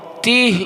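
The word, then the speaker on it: তীহ: কবর একটা উপত্যকায় যে উপত্যকাটার নাম হলো তি বাংলায় যার উচ্চারণ হলো তয় দীর্ঘই হ তিহ উপত্যকা এই তিহ উপত্যকা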